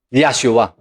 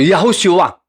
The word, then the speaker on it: Yahshua: Ngayon, ang tunay at orihinal na pangalan po ng Mesyas ay Yahshua o Yahushua. In short term, Yahshua. Sa ibang pronunciation, Yahushua.